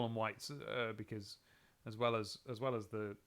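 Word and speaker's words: wiht: The old English version of it is W-I-H-T. No, but again, it's still pronounced white, presumably.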